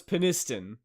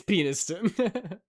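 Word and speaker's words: Penistone: And it is pronounced how you first said it. So So it's peniston. But I mean, come on. It's peniston.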